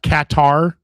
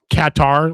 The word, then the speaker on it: Qatar: It's it's actually pronounced Qatar. It's Katar like cat.